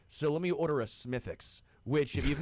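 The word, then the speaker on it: Smithwick's: So let me order a Smithix, which if you've not had a Smithix, it is a very Isn't it smithics? Smith Wix. It's spelled smithwick. But I I call it smithics.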